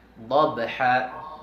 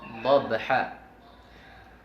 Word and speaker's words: ضبحا: Wal-adiyati dabha. Dabha. Wal-adiyati dabha. Okay, ganyan siya basahin. Wal-adiyati dabha. فالموريات قدحا فالمغيرات صبحا فالمغيرات صبحا. Hindi falmughirat, hindi. Ang muriyat ay yung nauna. Wal'adiyati dabha falmuriyati qadha falmuriyati qadha falmughirati subha.